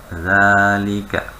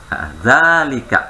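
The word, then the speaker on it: ذلك: Zanya panjang, Bu. Zalika. Iya, Masya Allah. Bagus. Jawab. Iya, haknya ingat, kalau hak seperti haza tadi. Kan tulisannya haza, pendek ya. Aslinya panjang Ibu, maka baca panjang. Haza. Haulai. Itu, ya. Zalika, panjang juga zanya.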